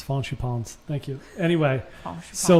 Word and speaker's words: Fancy Pants: how you pronounce his name. Yeah, it's Faunchi Pons.